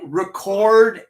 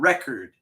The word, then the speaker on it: record: In many cases, the pronunciation is different. The accent is different. Like record and record.